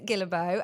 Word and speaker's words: Guillebeau: So I am talking to Chris Gillo and that's the correct way to say your name, isn't it, Chris?